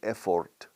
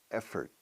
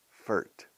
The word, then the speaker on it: effort: No decimos effort, aunque se escriba así. Effort. Fert. Como first.